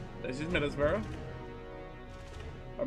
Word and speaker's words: Middlesbrough: This is Middlesbrough. Or Middleborough. Newport, Providence, Hartford, New Haven. That's how you pronounce all those.